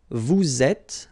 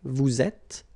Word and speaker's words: vous êtes: elle est, nous sommes, vous êtes, okay, little liaison here, little link, vous êtes, ils sont, elles sont.